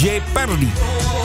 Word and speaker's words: Jeopardy: Maar het is Jeopardy. Het is Jeopardy. Jeopardy. Zo spreek je in het uit. Jeopardy. Maar er staat een A, er staat een E en er staat een Joe. Dus dat Joe staat daar. Net zoals Joe Nathan.